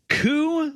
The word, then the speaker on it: Kew: the bad boys club coo little pigs it's spelled k-e-w it's a it's a